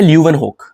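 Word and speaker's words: Leeuwenhoek: एक है ल्यूवन होक। क्या नाम है? ल्यूवन होक। ल्यूवन होक की यदि आप स्पेलिंग देखोगे तो ल्यूवन होक की स्पेलिंग क्या है?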